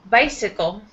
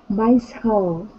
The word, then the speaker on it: bicycle: And bicycle. Bicycle. Bicycle. Bicycle. Say, it looks like cycle here, but the second part of the word will pronounce it sickle.